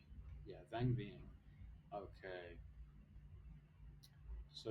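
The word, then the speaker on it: Vang Vieng: town how do you say van v yeah van Ving okay so it's a small town north of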